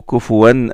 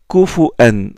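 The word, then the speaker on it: كُفُوًا: Et puis il y en a qui la prononcent Kufuan, comme Warsh, Kufuan ahad. Et il y en a qui la prononcent Kufwan, Kuf'an.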